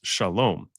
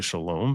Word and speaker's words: shalom: the Muslim is say they say salam because the the the sh becomes an s and it's just and instead of the o sound at the end it's just an a so we say shalom they say salam but